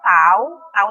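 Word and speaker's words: τ: Ini kita bacanya tau ya.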